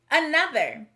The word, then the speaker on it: another: The first syllable is a. The second syllable is nub. The last syllable is So the word is another.